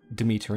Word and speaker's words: Demeter: The D sound is often replaced by TH, or what sounds like the. Demeter in Greek is pronounced Demeter, with the emphasis placed on the second E and the me in meter.